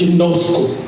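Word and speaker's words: γινώσκω: It's a Greek word that is pronounced ginosko.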